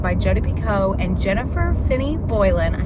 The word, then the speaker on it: Picoult: It is Jodi Picoult, not Picoult. Picoult, Jodi Picoult.